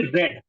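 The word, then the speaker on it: read: रीड ही जाती है लिखी तो रीड ही जाएगी लेकिन पढ़ी क्या जाएगी पढ़ी जाएगी रेड ठीक है गाइस पढ़ी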